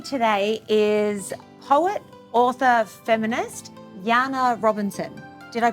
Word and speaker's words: Janne Robinson: and joining me today is poet author feminist Jana Robinson did I pronounce it correctly you nailed it because the